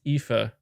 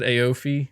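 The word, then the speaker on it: Aoife: her name okay so first name is pronounced ifa i said aofi okay ayorfi kifa ifa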